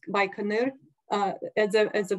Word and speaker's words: Baikonur: and the north uh South Abyss cosmodrome uh baikonur and City by Canal uh called Inc kazakhstani way pronounced by canur uh as a at the very center so